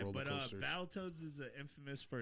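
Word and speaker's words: Battletoads: Um, so Battle Toad Can Can you tell me which websites you were looking at? Oh my god, I mispronounced that. It's Battle Toads.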